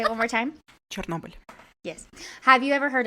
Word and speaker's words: Chernobyl: Chernobyl.